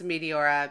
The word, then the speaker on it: Meteora: Which I pronounce Meteora because I'm not an ancient Greek scholar.